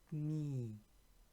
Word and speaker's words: Knie: Das I macht das I länger. So das Knie.